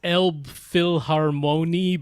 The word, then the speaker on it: Elbphilharmonie: say this word well it's spelled as Elbphilharmonie but it's German so that is absolutely not how you pronounce it I I don't know